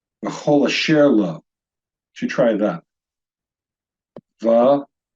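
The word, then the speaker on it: וְכֹל אֲשֶׁר לוֹ: So this word would be pronounced v'chol asher lo.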